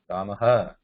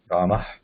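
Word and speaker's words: रामः: And when we say Ramaha also, Ramaha, it is not her. Ramaha, no, that's not right. Rama.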